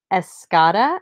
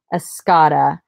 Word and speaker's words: Escada: Ralph Lauren oh alright Escada I think is how you say this this is a runway